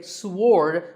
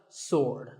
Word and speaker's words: sword: about this word sword many people say sword but that is totally wrong it's just sword and here's one last